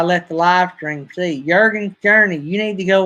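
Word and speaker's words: Jürgen: Jurgen, don't we pronounce it with the Y sound instead of the J sound?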